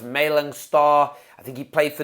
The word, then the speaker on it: Malang Sarr: I think his name is pronounced Malang Sarr.